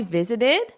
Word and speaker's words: visited: So notice the pronunciation here. What do you notice? Visited. Visited. So the base verb is visit, visit. And then when you have the past simple, what happens? Visited, visited, visited. So you add that extra syllable. That's because the word visit ends in a T.